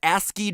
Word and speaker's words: ASCII: turned out to be ASC III codes for different letters of the alphabet for those of you who don't know ASC III codes or ASCII codes as it's properly pronounced the cringe is so